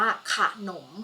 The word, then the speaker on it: ขนม: แล้ว จะ ต้อง อ่าน พยางค์ หน้า ประสม กับ สระ อะ ก็ คือ ขอ ไข่ พยางค์ หลัง จะ ต้อง อ่าน แบบ มี หอ นำ นะ คะ คะ ดัง นั้น คำ นี้ จะ อ่าน ว่า ขนม ค่ะ มา ดู ที่ คำ